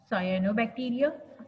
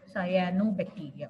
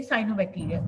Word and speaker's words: cyanobacteria: they form hetrogeneous Group which include viruses bacterias cyano bacteria how do we pronounce it cyano c y a Sayan no cyano bacteria okay please uh pronounce it correctly cyanobacteria quickly uh we say CYO bacteria but we skip the pronunciation of a a